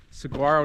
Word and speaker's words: Saguaro: Little fun fact for you viewers at home, Saguaro National Park is actually pronounced saguaro. The G is silent.